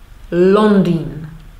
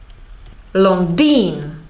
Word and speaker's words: Londýn: Motocykl, monografie, Londýn. I'm stressing the first syllable. If I do differently, motocykl, Londýn, I have a foreigner accent and it's strange.